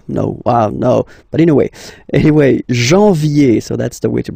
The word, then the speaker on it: janvier: But anyway, janvier. So that's the way to pronounce it. Janvier, A-N, en, okay? And then yé, yé, yé.